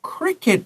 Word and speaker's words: cricket: T 前面的母音要短的，CK 也告诉你前面的母音要短的，so this is cricket, not cricket, not crockett or 什么，这个没有办法唱 I 或唱 E 发音 cricket is wrong because CK tells you that this is a short vowel.